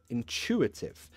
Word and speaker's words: intuitive: So this one, the same again, intuitive, but the stress is here. It's under chew.